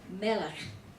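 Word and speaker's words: מֶלֶךְ: Now we're going to get into page 43, the Segol, and the word melech, which appears in Hebrew blessing phrase above, is pronounced with the accent on the first syllable, not the last.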